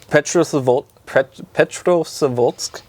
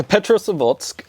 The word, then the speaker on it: Petrozavodsk: But its first sighting was in the 70s, and it was in Petrozavodsk, Russia, in 77.